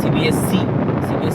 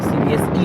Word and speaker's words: CBSE: तो अभी मान लीजिए मैं अगर 9-10 का CBSE का बात करूँ, मोस्टली सब लोग ऐसे प्रोनाउंसिएशन करते हैं CBSC नहीं होता है, CBSE होता है।